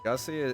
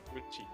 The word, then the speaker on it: Gucci: Gussy. Is that not how that's pronounced? Like goosey.